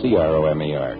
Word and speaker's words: Cromer: Incidentally, you spell it with a C, not a K. C-R-O-M-E-R, Cromer.